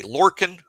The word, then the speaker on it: Lorcan: Lorcan Lorcan and that's how you pronounce his first name.